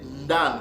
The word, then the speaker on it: ndanu: Donc, ça s'est prononcé ndanu. Ce mot-là se prononce ndanu.